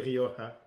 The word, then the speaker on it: Rioja: from the rioja well i don't say it properly how do you say it i would say rioja rioja yeah it's uh tempranillo 2016.